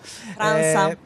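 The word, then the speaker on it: França: Franza. Si scrive Franca, ma è Franza perché è Brasiliano.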